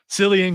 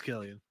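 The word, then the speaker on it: Cillian: and that would be silan Killian Murphy because I don't know how to say his first name I think it's Killian yeah well I'm gonna go with selan because I like it better I should have said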